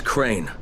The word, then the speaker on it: Crane: the video store no my name's crane crane crane rhymes with train and brain and S and Grain and rain and Plaine and the other kind of plane and and but can